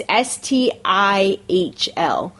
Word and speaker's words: STIHL: The steel. The still, whatever the steel. That's how you say it. That's how you say it. It's STIHL.